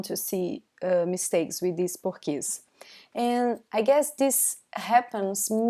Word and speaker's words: porquê: The 4th are pronounced porquê, porquê. Or you can say porquê, porquê. We've been telling you that O sometimes is pronounced like U, right?